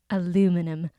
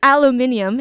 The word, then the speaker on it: aluminium: Aluminium if you're in the UK. Aluminium. I think I pronounced that right. Aluminum because I'm from the US and that's the only way I know it.